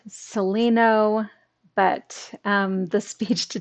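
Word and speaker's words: Celaeno: you maybe mean celino it's c-e-l-a-e-n-o so it's pronounced celino but um the speech to text doesn't know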